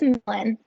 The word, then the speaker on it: Millen: And we will move on to, oh, I mispronounced this earlier. You're good. It's Millen.